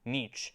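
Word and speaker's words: Nietzsche: bit of nich nich yeah that's how you pronounce the name nich if you want nihilism I think God is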